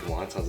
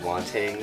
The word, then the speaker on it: wonton: do you pronounce like wontons? It's like wontang or some shit like that. I was like, my god. What? I was like it's just wonton, man.